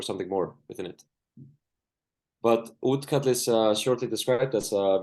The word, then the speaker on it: Útkall: And from Iceland, Elmar Gunnarsson from the organization called Útkall. Elmar, the floor is yours. Yeah, thank you. You can hear me? Thank you for super inspiring lecture so far. Perfect. Yeah, good pronunciation of Útkall.